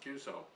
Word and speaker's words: QSO: cues actually stands for qso or cues pronounced cue so which also just stands